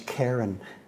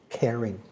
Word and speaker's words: caring: I suppose she introduced me to the word caring, which I would pronounce Karen, but today I would say with confidence, caring.